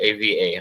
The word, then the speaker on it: Ava: Yeah, I spelled it AVA. I'm sorry about the pronunciation.